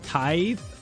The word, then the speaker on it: tithe: It's pronounced tithe.